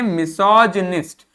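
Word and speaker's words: misogynist: जब इसको अलग से पढ़ते हैं तो इसका अर्थ गाइनिस्ट पढ़ते हैं, लेकिन जब इसके साथ पढ़ेंगे तो इसको पढ़ेंगे मिसोजिनिस्ट। क्या पढ़ेंगे? मिसोजिनिस्ट। क्या पढ़ेंगे? मिसोजिनिस्ट। इसको जी पढ़ेंगे, जी, जा वाला जी, मिसोजिनिस्ट, ठीक है, मिसोजिनिस्ट।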